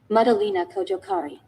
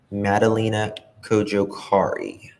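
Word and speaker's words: Madalina Cojocari: How do you pronounce her last name? I don't want to mess it up. Madalena Kojokari. Madalena Kojokari.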